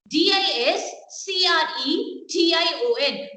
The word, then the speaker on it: discretion: R is silent. Discretion. R is not silent. You have a. Discretion. Discretion. It's not cretion.